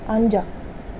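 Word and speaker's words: 앉아: इसको वैसे प्रोनाउंस करेंगे, इसके आगे वोवल आ गया, जियत ऊपर चला गया बोलते वक्त, आन जा, अंजा।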